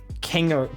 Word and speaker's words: Kingo: So in the movie, Kingo. It's Kingo, I think is how it's pronounced.